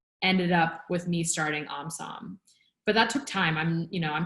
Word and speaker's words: OMSOM: First off, just want to say it's called OMSOM, but I will say what you did was you actually pronounced it the Vietnamese way, which is the origin of the word.